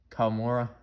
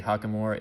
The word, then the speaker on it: Kawamura: Kawamura? I always say Hakamura. It's not, there's not even an H in there.